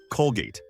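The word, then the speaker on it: Colgate: Toothpaste, regardless of brand, is simply Kolgeyt.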